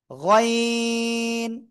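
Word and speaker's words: غين: গইন। অনেকে কিন্তু গাইন বলেন, আইন গাইন না, এটা আইন গাইন না, এটা গইন। গইন। 3 আলিফ টান হবে।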